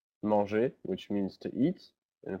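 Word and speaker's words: manger: all the verbs that end with the letters er which is pronounced e so for example the verb monge monge which means to eat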